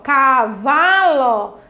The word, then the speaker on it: cavalo: Fale bem alto aí para o seu orientador ouvir, ó, cavalo. E aí você vai identificar que a sílaba tônica é, ó, vá.